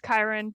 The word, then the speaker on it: Kyron: I usually think of it as Ciaran. I think it's Ciaran? supposed to be pronounced Kyron, but I look at it and I see Ciaran.